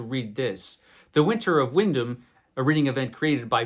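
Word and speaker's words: Wyndham: winter of Windom Windom now I know that Windom is actually the proper way to pronounce this guy's name John Windam which is what I thought it was Roger I thought it was it's Windam so John windham's the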